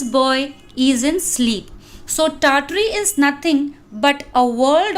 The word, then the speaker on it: Tartary: This is Tartary, Tartary, in which the first R is silent, Tar.